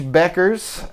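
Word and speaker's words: Bueckers: Um, and then team uh Collier, Paige Beckers, who I've been saying buers this whole time, but and you said it right, but I just I don't know. I was just like, it's u broken. Paige Beckers.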